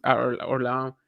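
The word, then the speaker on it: Orléans: for him right now he wins Orleans and he's orl if you want to pronounce it the French way he is going to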